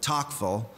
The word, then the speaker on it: Tocqueville: tocqueville uh Alexis de tocqueville and uh or when I was in the South people pronounced it talkful and you can say whatever you like but there was